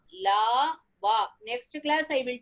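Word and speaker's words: ल: When you tell, pronounce and see la, is the tongue touching your teeth?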